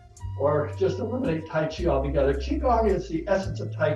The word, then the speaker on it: Qigong: So it really depends on what part of Asia you're from, but it's all the same Qigong, and it's all pronounced Qigong, except in Korea they call it Qigong.